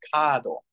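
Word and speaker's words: カード: very important there uh card is easy to remember it's kadle so the r just kind of gets lost into a long a yeah yeah this is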